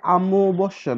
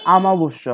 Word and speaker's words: অমাবস্যা: উচ্চারিত হবে এবং ভাঙবে, যেমন অমাবস্যা, এটা অমাবস্যা না, এটা আমাবস্যা হবে, আমাবস্যা, আমাবস্যা। একটু খেয়াল করো, দন্তে শয় জ ফলা আকার ছিল, আমার উচ্চারণ হয়ে গেছে দুইটা তালে বস্য, মানে দ্বিত্ব আমার হয়েছে।